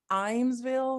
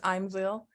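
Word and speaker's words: Ijamsville: I am the pastor of Pleasant Grove United Methodist Church, and it's in Imesville, Maryland, which is spelled sort of like I-Jamesville, but it's Imesville.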